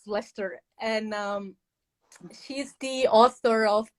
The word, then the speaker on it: Leicester: pronounce that word because i would say lisa's story but now i know it's lester and she's the author